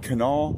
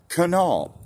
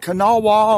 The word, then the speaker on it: Kanawha: Island AKA Blaine's island in the beautiful great Canal River that's Canal not Kanawha or however else you were mispronouncing it it's canal okay all right that's